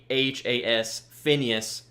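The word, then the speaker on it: Phinehas: And then Phineas, it's spelled P-H-I-N-E-H-A-S, Phineas, The Fire Itself.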